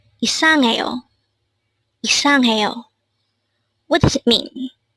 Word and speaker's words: 이상해요: 이상해요. Again, it's 이상해요. This is pronounced as a four-syllable word. The first syllable is I, followed by sang, third syllable is he, and fourth syllable is yo.